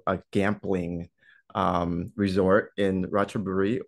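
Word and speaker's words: Ratchaburi: gambling um Resort in rachaburi or also you can pronounce it radbury province which is in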